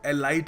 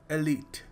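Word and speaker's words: elite: एलीट एलीट इसको देखिए बहुत सारे लोग एलाइट कहते हैं कई लोग कुछ और ही कह देते हैं कई तो खैर कुछ और ही कह देते हैं सो इसको सही तरीके से प्रोनाउंस करने का तरीका है एलीट बहुत ही एलीट दोस्त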